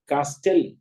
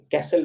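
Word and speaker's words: castle: है पहली मिसाल है सी ए एस टी एल ई कास्टल कास्टल नहीं पड़ा जाएगा बल्कि कैसल पड़ा जाएगा कसल उसी तरह एल आई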